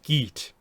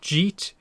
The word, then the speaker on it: Git: And then the way they say the um uh cat monkey animal companion's name is Git, not Jeet, G.